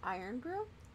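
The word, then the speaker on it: Irn-Bru: Say it like Iron Brew?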